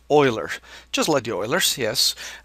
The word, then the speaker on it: Euler: his name is Leonard Oiler and it is common mistake among students to call call him uler but actually because of his ethnic origin uh his last name is actually pronounced Oiler just let the Oilers